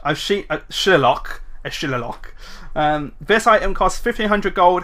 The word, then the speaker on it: Shillelagh: It's pronounced Shillelagh because it's Celtic.